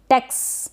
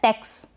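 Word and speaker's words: text: चला गया है, और ये जो एक्स होता है इसको हम आधा क और स के रूप में पढ़ते हैं। आप प्रोनाउंस करें, आधा क और स के रूप में इसको पढ़ेंगे टेक्स। ये जो साउंड आ रहा है टेक्स, ये आधा क और स का आ रहा है।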